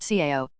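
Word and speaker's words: 草: The character is pronounced CEO and it means grass, but it's also almost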